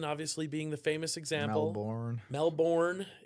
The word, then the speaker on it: Melbourne: Melbourne is how it's spelled, but not how it's said. It's same as fur, right?